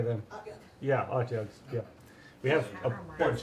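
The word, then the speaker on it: Otyugh: Utgas? Yeah, how do you say them? Okay. Yeah, Otjugs, yeah.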